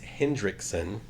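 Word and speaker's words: Henriksen: Lance Hendrickson.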